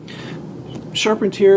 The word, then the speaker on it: Charpentier: for lincoln financial group sharpened here is belgian french french you should use that instead it is way more sexy way more sexy and